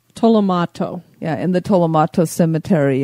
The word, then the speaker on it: Tolomato: the cemetery the Tomo how do you say it again Tomo tolomato yeah in the Tomato